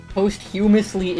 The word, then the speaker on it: posthumously: posthumously is how you pronounce it. Post as in after, humus as in your human person.